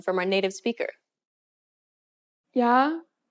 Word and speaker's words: 야: 아, 야, This small stroke adds a Y sound to the beginning of the original sound. Compare the pronunciation of these 2 letters once again. 아, 야, When you say this letter, don't pronounce the Y sound for too long.